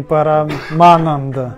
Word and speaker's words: парамананда: Парама, ма, долгая ма. Ма под ударением, вот это ма.